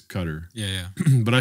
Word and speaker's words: Qatar: next conference and uh it's a cutter right it should be cutter I think it's like yeah in Arabic it's cutter yeah yeah but I